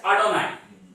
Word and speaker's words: Adonai: what that means is whenever you see this one, you don't pronounce this word and you make this word and you call this as Adonai.